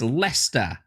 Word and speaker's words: Leicester: That's how it's spelt. And how it's said is Leicester.